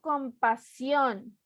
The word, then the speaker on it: compasión: No digo compasión, ni compasión. Digo compasión. Última sílaba.